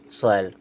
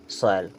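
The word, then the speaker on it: soil: बॉयल इसे क्या पढ़ेंगे सोयल क्या पढ़ेंगे सोयल यहां पर या लिखा पूरा है लेकिन इसका साउंड हमें बिल्कुल हल्का सा करना है जे ओ आई एन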